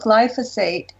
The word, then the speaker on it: glyphosate: And the incorrect pronunciations are glyphosate, or glyphosate, or glyphosate.